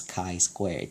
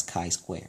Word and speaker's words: chi-square: It looks like the letter x squared, but it's actually pronounced as chi-square.